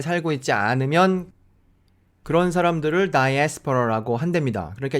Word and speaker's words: diaspora: 이제 영어로는 이렇게 말합니다. 한번 들어보시죠. Diaspora.